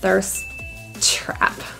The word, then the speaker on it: thirst trap: an obvious thirst trap since both words end and start with a t we only say that sound once there's trap thirsty meaning really really